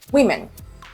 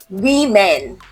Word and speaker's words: women: It's women. Women. Women. Not women. No. Women. Okay.